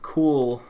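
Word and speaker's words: CeWL: for tags let's just do hacking cause that's cool all right that should be cool so i was saying the thing that jumps out to me is is cool curling site specifically spelled c-e-w-l cool c-e-w-l is a known tool uh for penetration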